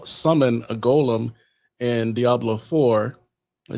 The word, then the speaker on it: golem: So in Jewish mysticism, we have what's called the golem. Some people pronounce it as gollum, right?